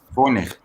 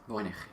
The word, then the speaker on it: Voynich: Voynich. What? That's how you say it. Okay. Voynich.